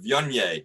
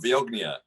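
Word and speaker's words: Viognier: my book and then everybody was saying riesling not riseling and vyonye not viognia and and that was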